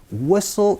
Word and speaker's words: whistle: 흔히 여기에서 제가 지금 한국어로는 휘슬이라고 얘기를 하지만 영어 발음 WH 사운드는요, 위소리입니다. 그러니까 blow the 휘슬이 아니고 blow the whistle 이라고 표현해 주시는 거 같이 신경 써 주시면서 연습 한번 해보도록 할게요.